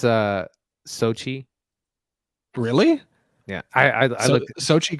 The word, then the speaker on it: Xochitl: I don't know how to pronounce her name, so I'm just going to go for it. It's Sochi.